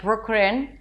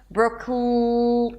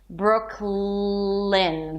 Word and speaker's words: Brooklyn: Brooklyn to make sure that you actually pronounce the L correctly. Brooklyn. Then it's the relaxed I sound and an N.